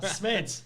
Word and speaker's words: Smeets: By the way, that's how you pronounce his last name. I just figured it out. Yeah. Wow, Smeets.